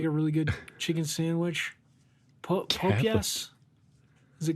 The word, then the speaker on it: Popeyes: Oh, you pronounce it how? I think we call it Popeyes.